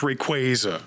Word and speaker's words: Rayquaza: Rayquaza. Rayquaza. Ray Rayquaza. Rayquaza. Rayquaza. I think I say Rayquaza, honestly. Rayquaza. No, Rayquaza. Rayquaza. Pokemon said it's Rayquaza.